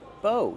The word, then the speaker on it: bow: do we pronounce bow bow use a long o like no and go bow a bow and